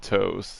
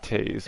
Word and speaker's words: Toews: You see it's Toews. Like some. So we have this no name. We have this no name kid we know that's gonna pronounce it toes. That's the problem. But it's pronounced Taze.